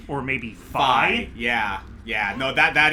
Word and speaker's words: Fi: I think it's fi specifically because I've heard it in Hyrule Warriors, uh, they pronounce it Fi. And considering that Hyrule Warriors, you know, was developed by Nintendo themselves, I'm going to defer to the game on that one.